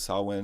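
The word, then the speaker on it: Samhain: got the name Sam because sawin is actually like spelled like Sam Hine or Sam Hayne and stuff so they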